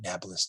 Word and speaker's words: Nablus: will become renamed naples arabs can't pronounce peas so they call it nablus today the only time